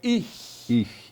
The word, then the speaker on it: ich: É um som que começa no fundo da garganta, por exemplo, o pronome pessoal eu é ich.